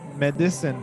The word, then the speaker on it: medicine: no yeah so but remember this distressed syllable of medicine is mad not if so not medicine but medicine medicine just a